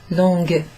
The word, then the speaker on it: longue: So, you kind of pronounce the G at the end. Longue. That's because la chaise is a feminine noun.